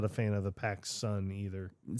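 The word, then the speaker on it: PacSun: I mean cuz when I hear Pacson it's just like I like I don't hear pack sun like P A C Su N like people are like oh I'm going to Paxton and it's like I just think of Bill Paxton like right away. I'm like that's stupid. Like I will go to the Pacific Sunwear.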